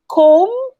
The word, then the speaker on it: comb: comb it's comb alright silent b if you see letter m and letter b together especially if at the end uh towards the end of the sentence then usually the b is silent okay com it's not